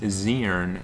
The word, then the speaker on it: Zern: And this is going to be an OU match between Sky and I believe it's pronounced Zern, as he's told me.